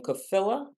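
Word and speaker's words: Kotfila: attorney and I might be butchering your name kaill am I saying that correctly yes okay how do you spell that it's k o t is in Tom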